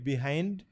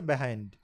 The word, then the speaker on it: behind: কিন্তু যখন এই ডিকশনারিতে আমি উচ্চারণ দেখলাম তখন ব্রিটিশরা এটাকে উচ্চারণ করছে অনেকটাই আমাদের মতো, 90% আমাদের মতো। আমরা যেভাবে বলি বিহাইন্ড, এত কাঠখোট্টা নয়, ওরা বলছে বিহাইন্ড, অনেকটা একারের মতো বিহাইন্ড, এইরকম।